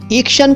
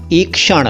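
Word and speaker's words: ईक्षण: सा नाम बताता हूं एक क्षण एक्शन कह सकते हैं लेकिन सही उच्चारण होगा एक क्षण आप इसका मतलब है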